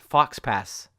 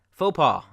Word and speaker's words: faux pas: right here faux pas comes from French and that's why the ex is not pronounced when many people see